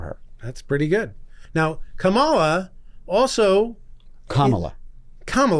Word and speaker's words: Kamala: if I were hert that's pretty good now Kamala also Kamala Kamala like mamala yeah yeah or just Kama yeah but Kamala right yeah I I I've camela Kamala I've had trouble for years ever since she